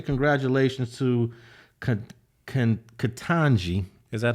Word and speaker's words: Ketanji: I want to say congratulations to Ketanji. Is that how you pronounce it? Yeah, Ketanji Brown Jackson.